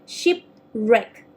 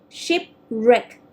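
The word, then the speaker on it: shipwreck: war okay for the worst out we don't pronounce the watch sound it's going to be ship wreck ship wreck just only r sound so this okay so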